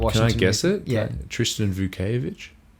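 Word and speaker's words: Vukčević: Tristan Vauovich. Vchevich.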